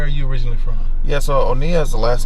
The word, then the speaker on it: Oniah: like where where are you originally from yes onea is the last name is Nigerian okay yeah